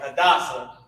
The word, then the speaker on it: Hadassah: All right, so let's put how to pronounce this. Ha, Da, S-A-H, Sa. Right, and this is how it's spelled. H-A-D-A-S-S-A-H.